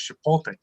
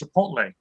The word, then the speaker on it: chipotle: superfood of 2021 is chipotle but my son keeps correcting says dad is pronounced chipotle i said great this